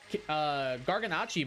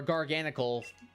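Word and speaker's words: Garganacl: Garganacci, my dude. Garganacci is actually good. Or Garganical, for those of you who want to mispronounce it.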